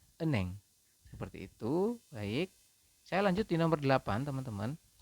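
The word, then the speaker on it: 은행: Kemudian yang ini bukan enheng, tetapi dibacanya adalah eneng.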